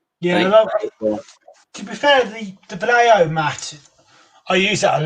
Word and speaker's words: Vallejo: Vallejo, or whatever you want to call it. I think the Spanish pronounce it Vallejo.